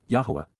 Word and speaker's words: Yahowah: And she ignored and forgot me, Eth Eni Shakach, prophetically announces, Yahowah, the proper pronunciation of Yehovah our Eloah, God as directed in his Twrah, teaching regarding his Hayah existence in our Shalom WM, restoration.